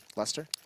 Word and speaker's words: Leicester: uh in London so is that how you pronounce that Lester like yeah there's a c in it isn't it it's like Le eyes that was like light Chester I thought that as